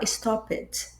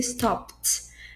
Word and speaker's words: stopped: A também tem o verbo stop, que as pessoas podem erroneamente falar stop it. É entendível. Claro, mas se a gente tá procurando uma pronúncia perfeita, vai ser stopped.